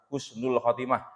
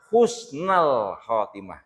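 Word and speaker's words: حُسْنَ الْخَاتِمَةِ: Allahumma inni as'aluka husnal khotimah. Harus dibaca fathah. Karena apa? Itu dalam bahasa Arab namanya maf'ul bih tsani, maf'ul bih yang kedua.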